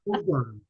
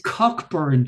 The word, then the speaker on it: Cockburn: Pronounced Cockburn. But it's Cockburn to these guys.